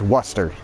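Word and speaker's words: Worcester: other day about like luster w-o-r-c-e-t-e-r pronounced Western w-u-s-s t-e-r Western or conquered versus Concord if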